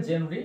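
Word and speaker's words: genre: আচ্ছা দেখো, জেনরি উচ্চারণ হবে জেনরি, অর্থ কি, ধরন বা রীতি, অফ ফোক মিউজিক।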